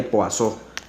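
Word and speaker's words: Poisson: la ecuación de corazón que se escribe poison pero se le pasó entonces en qué consiste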